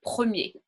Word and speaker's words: premier: So there are a few other exceptions of words that we would also pronounce in a similar way of E and not ER, comme un boulanger, un boucher, a butcher, un cahier, le premier, the first.